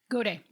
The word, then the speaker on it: Gaudet: Gaudet.